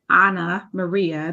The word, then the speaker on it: Anna Maria: We have the beautiful Anna Maria. That's how we really pronounce her name. But for those of us that's known her a long time, we just say Anna.